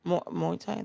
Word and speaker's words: Muay Thai: Muay Thai.